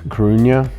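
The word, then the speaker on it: Coruña: club deportiva de la i think i pronounced it wrong earlier it's krunya uh so we're officially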